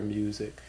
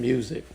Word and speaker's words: Musick: you you you you've have a a broad net with your music.